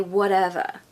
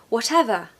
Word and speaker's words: whatever: was American I'd say whatever whatever but I'm not I'm British and we do pronounce the T especially when there's two T's okay definitely when there's